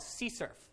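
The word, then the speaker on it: CSRF: that so this thing here uh is called SE surf does anyone happen to know what this stands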